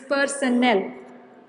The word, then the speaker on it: personnel: remuneration remuneration of personnel. Okay, understand the difference of two words, personnel and personal. Okay, two words. This is personal and this is personnel. Okay, don't pronounce it in the same way.